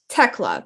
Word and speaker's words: Thekla: to the toxic spider tecla correct the h is silent yes yes okay from